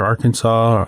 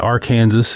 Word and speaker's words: Arkansas: recharge the Ogallala Aquifer, the Ark River, Arkansas, or the Arkansas if you're from Kansas. There's a debate on how to pronounce it.